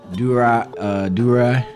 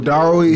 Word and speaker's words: Darui: It's between him and like Durai. I think is how you pronounce his name. Oh, Darui.